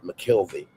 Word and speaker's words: McKelvey: I'm McKelvey. He adds to his real name, emphasizing the second syllable of his last name.